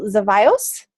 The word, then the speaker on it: Zevallos: I'm super excited to have Emanuel Zevallos. Is that right, Emanuel? Yeah, you actually pronounced it Yay.